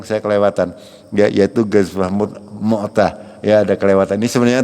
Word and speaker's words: Mu'tah: Akan tapi ini ada satu peristiwa yang namanya Ghazwah Mu'tah, ya. Bukan Mut'ah, ya. Ada Mu'tah, ada Mut'ah. Hanya ada yang tahu Mut'ah? ada yang kawin muda gitu, ya, pernah dengar apa? Ya, ini salah pengucapan. Ini namanya Mu'tah, ya, Ghazwah itu peperangan.